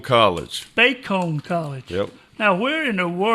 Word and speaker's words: Bacone: You graduated from, I couldn't figure out how to pronounce it. Yep, it's Bacone College. Bacone College.